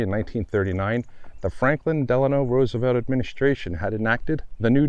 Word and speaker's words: Roosevelt: and grandson of President Theodore Teddy Roosevelt stated our name is pronounced Roosevelt and anyone who pronounces the first syllable as to rhyme with goose is to be admonished this statement goes for